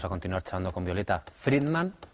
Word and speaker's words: Friedman: Si les parece, sin perder más tiempo, vamos a continuar charlando con Violeta Friedman. Pronuncia ahora bien el apellido.